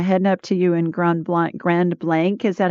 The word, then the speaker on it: Grand Blanc: McLeod from Grand Blanc, Michigan.